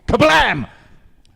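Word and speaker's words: Kabam!: Kabam and praus sorry I should uh pronounce that properly it's Kabam it's got the exclamation mark on the end so got to do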